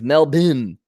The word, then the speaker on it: Melbourne: There's no R's, which is why Melbourne is Melbourne. They don't pronounce the R's.